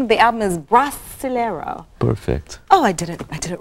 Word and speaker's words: Brasileiro: The name of the album is Brasileiro. Perfect. Oh, I did it right. Thank goodness. Now we're going to get another pronunciation lesson.